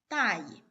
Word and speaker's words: 大意: But if you read it in the neutral tone, it means careless, pronounced 大意.